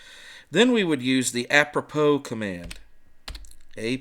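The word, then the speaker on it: apropos: Then we would use the apppropo command. A p r o p os. Yeah, I know it looks like apppropose, but the correct pronunciation is apppropo.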